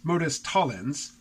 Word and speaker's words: modus tollens: I, for decades, have thought this was called modus tollens, but I checked the pronunciation on Google yesterday, and, there's a right way and a wrong way to mispronounce Latin. Is this even Latin? But apparently it's modus tollens.